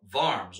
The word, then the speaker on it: Worms: so what we're looking at today is 1517 up to the diet of farms or worms w-o-r-m-s so i don't know we'll pronounce like an english person we'll say worms today so earlier around 1512